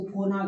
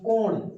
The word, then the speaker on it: कोण: ये देखिए देख रहे हैं इसको कोना कहते हैं हमारे यहां कोना यानी कि कोण कोण ठीक है अलग-अलग उच्चारण होता है बस मेरी बात आप तक पहुंचे और आप सही चीज जान जाए है ना तो कोण इसको कहते हैं कोण जैसे आप भुजा